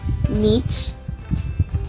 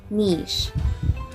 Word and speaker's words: niche: this word well there are more than one correct pronunciation of that word that word can be pronounced as niche or niche niche going to